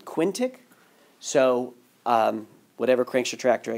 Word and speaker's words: quintic: how to say it I was saying keen tick earlier but someone sent made it sound that about Quinn quintic so whatever cranks retractor